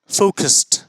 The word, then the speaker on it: focused: उच्चारण फोकस्ड, फोकस्ड, फोकस्ड। चलिए, ईडी युक्त है आखिर में या अंत में, फोकस्ड, फोकस्ड। तो इसका उच्चारण भी डी से अंत होना चाहिए, लेकिन अंत हो रहा है टी से।